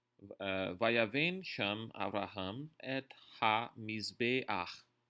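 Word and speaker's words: מזבח: Isso significa que ele é pronunciado antes da sua consoante, diferente das outras letras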